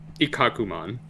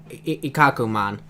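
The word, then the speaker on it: Ikkakumon: end with them selling on how did you pronounce Galumon's champion form? Ikakumon. Ikakumon.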